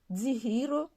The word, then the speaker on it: Dzihiro: DZ se prononce dze. Par exemple, Zaha, le volcan, Mzadze, maman, Dzihiro, ça peut être le soin ou bien un remède.